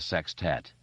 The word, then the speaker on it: sextet: club would become a sextet a word Richie liked a lot always with the emphasis on the first syllable but Stan had been